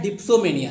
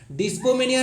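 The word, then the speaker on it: dipsomania: Next आता है डिप्सोमेनिया, है डिस्पोमेनिया नहीं है ना, डिप्सोमेनिया है, इसको देख लीजिएगा, कंफ्यूज हो जाएगा, हो सकता है डिस्पो पढ़ने लगे आप लोग, तो मैं बता दे रहा हूं यह डिप्सोमेनिया है।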